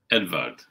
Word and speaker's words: Edvard: Edvard is what came Edvard. Through. And he said, it's not, it's spelled like Edward, but it's not Edward, it's Edvard.